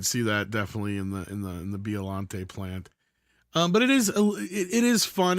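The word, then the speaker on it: Biollante: Violante, yeah. So I always Godzilla mispronounce it.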